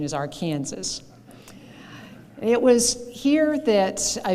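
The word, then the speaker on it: Arkansas: that but I I know that the right pronunciation is our Kansas it was here that I began my interest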